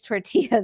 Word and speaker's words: tortilla: muscoll or I'll say tortilla. And my favorite thing though is when people correct me like I don't know that I'm saying it the wrong way. They're like it's tortilla. The L's are silent.